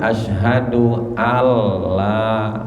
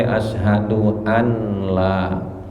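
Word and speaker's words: أشهد أن لا: Bacanya asyhadu alla, nggak boleh asyhadu anla. Wa asyhadu anna muhammadar, nggak boleh wa asyhadu anna muhammadan rasulullah. Ya, jadi itu berarti mesti diidghamkan, dimasukkan nunnya kepada lam atau dimasukkan tasdidnya kepada ra, muhammadar Rasulullah.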